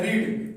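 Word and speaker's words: read: क्या इस्तेमाल होता है, रीड। तो रीड का हमारे पास सेकंड और थर्ड फॉर्म यही होते हैं, लेकिन इसके पढ़ने के अंदाज मुख्तलिफ है। रीड, रेड स्पेलिंग इसका वही है।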